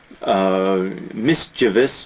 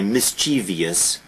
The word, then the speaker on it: mischievous: Mischievous, notice the spelling, notice the pronunciation. Universally misspelled, mispronounced. Because Americans will always say mischievous, but there is no I there, there is no E there.